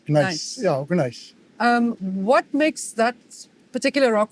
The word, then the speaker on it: gneiss: Ernst, you've often mentioned the importance of specifically, and I'm not even sure I pronounce it correctly, Sand River gneiss. Nice. Yeah, gneiss.